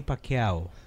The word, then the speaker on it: Pacquiao: Manny Pacquiao.